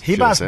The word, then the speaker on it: Ribas: Hibas, baby. Hibas. Let's pronounce it correctly, of course.